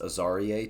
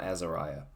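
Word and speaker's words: Azareye: in an interview I I believe it's pronounced aaria Thomas um it's not Azariah it's aaria Thomas um but he is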